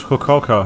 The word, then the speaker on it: Fukuoka: loving all the same fukuoka it's kokoka that's how it's pronounced but obviously it's not